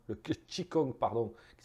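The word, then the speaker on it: qi gong: la médecine traditionnelle chinoise nous avons aussi le Kong le chi kong pardon qui s'écrit King Kong qui sort de gymnastique moins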